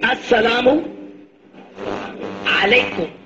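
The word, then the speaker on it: السلام عليكم: Say, As-salamu alaykum.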